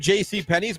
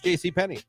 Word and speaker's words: JC Penney: to help us out I've said JC Pennies my whole life it's JC Penney well yeah it's not JC peny my grandmother who died